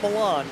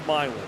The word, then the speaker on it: Milan: are mispronounced oh gosh it's not Milan it's milin it's not ver it's versales seriously I'm dead serious is actually called versales unironically versales Indiana I've stoed